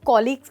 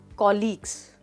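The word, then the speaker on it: colleagues: दोस्तों कॉलीग्स का मतलब होता है आपके साथ काम करने वाले लोग। फिर से बोलिए मेरे बाद, कॉलीग्स। बहुत सारे लोग इसको कुलीग्स बोलते हैं जो कि एक रॉन्ग प्रोनाउंसिएशन है।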